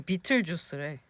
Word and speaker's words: Betelgeuse: 우리나라 말로는 베텔기우스잖아. 이거 비틀주스래.